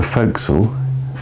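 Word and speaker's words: fo'c'sle: area formerly used for well called the foxel shortened from full castle that folks is the way it's always pronounced in very simple terms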